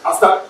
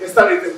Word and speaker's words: ASER: Some people call it ASER, A-S-E-R. It's an abbreviation so that you can pronounce it the way you like. ASER or ASER. I like ASER.